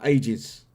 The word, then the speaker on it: Aegis: Right, can I move on to the Aegis? Am I pronouncing this right? Aegis. Aegis, yes. Yeah. Okay. I didn't know if there was a silent something. Silent A, looks like.